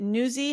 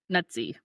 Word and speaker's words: Nuzzi: Olivia Olivia is it newy how are we going to pronounce her name nutsy nutsy I agree it's probably that's probably the pronunciation rhy it's like pizza nuty gate other people